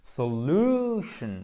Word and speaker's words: solution: Vous savez que les mots qui se terminent en tion, on a un accent tonique juste ici et là, c'est un beau ou long. Solution. Bon, je caricature évidemment, c'est pas solution, c'est solution.